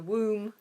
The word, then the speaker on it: womb: is t m b both of them you don't pronounce the b so both of them contain a silent B don't ask me why